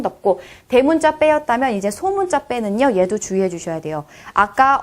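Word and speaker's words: п: 돼지 발 같기도 하고 자, 얘는요 읽으실 때 빼라고 읽어주시면 됩니다. 빼. 이것도 된 소리가 나죠. 쌍비읍에 가까운 소리가 납니다.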